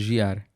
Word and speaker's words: Jear: Because my actual name is Jear. But it's not. Why are you not saying this? Because no one can pronounce it. So in Germany, there's no je.